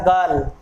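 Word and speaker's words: girl: Symbol, ये हो गया गर्ल। इसमें रे को प्रोनाउंस नहीं करेंगे क्योंकि रे के बाद कोई वाउल साउंड नहीं आ रही है।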